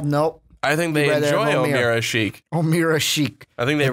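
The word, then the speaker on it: Ömer Aşık: ESPN loves to say his name wrong when us in Chicago know how to really say it. Omira Sheik.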